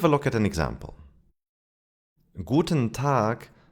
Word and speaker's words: guten: Guten is actually pronounced guten tag. The e disappears.